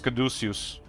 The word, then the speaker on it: caduceus: I used to pronounce it Caduceus, but it's Caduceus.